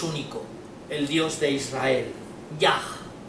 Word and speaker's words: Yah: el Dios de Israel, Yah, así lo pronunciaría un judío, ¿no?